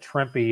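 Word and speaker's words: Trimpe: drippy though yeah it's trippy yeah it was just something i don't know some book about marvel it said trippy and then it said rhymes with shrimpy rhymes with shrimpy that's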